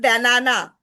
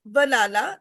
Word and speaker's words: banana: Like in banana, it's not banana, yeah. it's banana. So we are not pronouncing the a sound, the like a in full stretch.